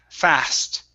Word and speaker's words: fast: is going to be the word fast okay so instead of saying a fa fast it's a fast fast okay one more time